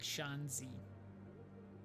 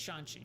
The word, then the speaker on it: Shanxi: actually pronounce these words instead of saying like shanzi it's shanxi i know that now technology virtual intelligence